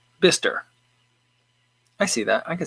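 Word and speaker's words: Bicester: in a town called i would call it bychester from the way it looks at it it's in the uk he says it's pronounced bister i see that i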